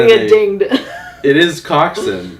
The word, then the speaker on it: coxswain: It is Coxswain. Coxswain is how it's spelled.